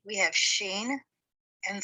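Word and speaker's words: shin: The sheen is transliterated with an SH and pronounced sh, whereas the seen is just the S sound.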